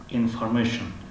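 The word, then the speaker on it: information: و مثل پسوندی تی آی او ان تی آی او ان شن تلفظ می شود، انفورمیشن انفورمیشن انفورمیشن انفورمیشن، اطلاعات معلومات.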